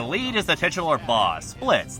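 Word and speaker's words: Blitzø: The lead is the titular boss, Blitz. The O is silent.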